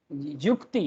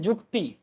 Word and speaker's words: युक्ति: ठीक है, बंगाली में बोलते हैं युक्ति, हिंदी में बोलते हैं युक्ति, बंगाली में बोलते हैं जुक्ति. लैंग्वेज सेम है सर, बस प्रोनाउंस करने का तरीका अलग होता है.